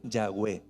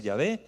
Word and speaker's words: Yahweh: Entonces ellos, para ponerle nombre al único Dios verdadero, utilizaron la Y, la H muda, la W, que suena como B, y la H muda, y lo empezaron a pronunciar Yahweh.